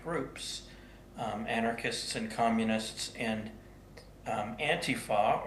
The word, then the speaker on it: Antifa: Anarchists and communists and Antifa, or some people pronounce it Antifa, the self-styled anti-fascist group